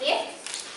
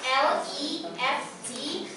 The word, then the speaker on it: left: It should before it's pronounced lift, while in fact it should be left. It's spelled L-E-F-T. It's pronounced left.